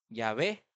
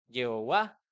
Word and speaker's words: Yahweh: Yahweh. Y así las traducciones y el lenguaje fue cambiando y la pronunciación a tal punto que en algunas Biblias dice Yahvé, en otras Biblias dice Yahweh, Jehová.